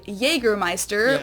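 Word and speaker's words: Jägermeister: Meister in germana Meister English speakers usually say Jagermeister which is pretty much the same just with a pretty thick accent and people also often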